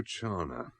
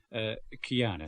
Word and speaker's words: Chiana: Rosario Chana. Chiana, sir. CH is spelled here. H hardens the C in Italian.